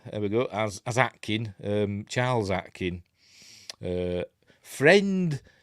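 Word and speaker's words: Aitken: even though it's spelled AI T Ken it's pronounced Atkin so the atlantans think he's one of them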